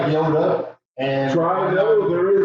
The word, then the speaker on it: Yoda: No, it's Yoder. I think Gandhi's there. I don't know anything about Star Wars. I just know he's. No. And he didn't even say it like that. He said it like Yoda.